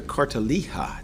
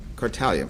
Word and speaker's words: Cartalija: Let me start with Cartalija. Did I get that right? How are you? Did I mispronounce it? That's all right. Everybody does. What is the right, Yeah. I'm sorry, what is? Cartalia.